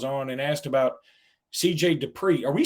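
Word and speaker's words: Dippre: It is Dupree. I know it doesn't look like how we would normally spell Dupree, right, like Marcus Dupree, but no, it is pronounced CJ Dupree.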